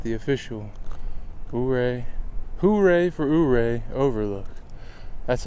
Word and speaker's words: Ouray: now I at the official hoay huray for uray Overlook that's how I'm going to remember how